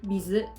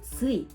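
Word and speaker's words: 水: 그래서 이 물수를 일본어로 얘기하면 훈독은 미즈, 음독은 스이 이렇게 되는 거예요.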